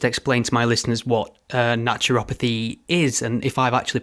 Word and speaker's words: naturopathy: to my listeners what naturopathy is and if I've actually pronounced that correctly. Yeah, you can pronounce it in a few different ways, but that's how I pronounce it, is naturopathy or naturopathic medicine, also in air quotes.